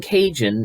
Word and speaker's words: Cajun: livestock tools and medicine the term cajun is the anglicized pronunciation of the french word kijin which is what the acadians call themselves beau soleil died a